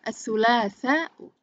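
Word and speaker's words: الثلاثاء: Bukan as-sulasa, tapi as-sulasa'u, al-arbi'a'u, al-khamis. Kita kalau orang Arab yang sudah terbiasa bahasa Arab, bunyi akhir memang tidak dibaca. Tapi karena kita sedang belajar, kita harus membacanya sampai bunyi akhir.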